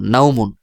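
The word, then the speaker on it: نوم: মিম দুই পেশ মুন নাউমুন তো যদি ওয়াকফু করেন তাহলে এক আলিফ টানে পড়তে হবে যেমন নাউম এইভাবে এর পরবর্তী কফ পেশ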